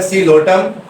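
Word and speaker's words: Psilotum: वो है सीलोटम, इसमें पी साइलेंट है सीलोटम, और ये है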